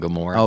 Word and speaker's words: Gomorrah: right into Earth Crisis how do you say that gamora's Gamora Gamora think yeah like Sodom and Gomorrah okay yeah go more